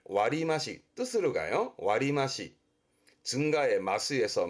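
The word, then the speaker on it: 割増: 그래서 얘도 발음을 와리마시, 뜻으로 가요.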